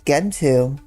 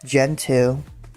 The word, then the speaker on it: Gentoo: I always pronounce it as Gentoo. Honestly. But some people pronounce it as Gentoo as well.